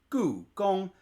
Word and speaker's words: Gugong: Gong 1, meaning it's a high tone. So, it's goo, gong.